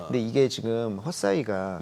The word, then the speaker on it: Hesai: 요게 이제 헛사이가 이제 글로벌 라이다 쪽에서 1위거든요. 시장 점유율이. 헛사이라고 발음해야 네, 돼요? 헛사이, HESAI. 네.